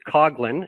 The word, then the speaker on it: Coglin: Actually, looks like Coughlin. I actually go by Coughlin a lot. I use it a lot because it's easier to uh to spell that way. Uh but it is a hard G sound.